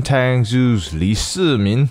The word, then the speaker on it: Tangzu: sharing my experience on Tang Zeus I know it's referred as seemingly a lot but this is how it's normally pronounced for me so I'm sticking with this before I begin I'd